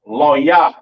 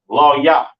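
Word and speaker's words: לוי: today all right and Levi's pronounced lawyer in the Hebrew lawyer in the Hebrew all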